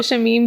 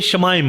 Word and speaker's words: Shamaim: इसको शमीम बोल देते हैं, शम्याम बोल देते हैं, बट या तो ये शमाइम है।